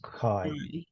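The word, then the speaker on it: chi: square is K square a Greek letter pronounced Kai all right a Kai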